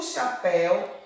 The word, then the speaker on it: chapéu: O chapéu é enorme. Chapéu. Chapéu. Chapéu. Qual foi a sílaba que mais se alongou? Pé. Ó, chapéu. Pé. Vogal aberta ou vogal fechada? Chapé. Pé. A vogal está aberta.